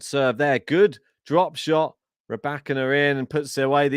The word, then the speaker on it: Rybakina: Emphasis on the second syllable in Rybakina.